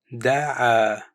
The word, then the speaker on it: دعا: ماذا What, pronounced ماذا دع To invite or call, pronounced دعا with a quick stop at the end.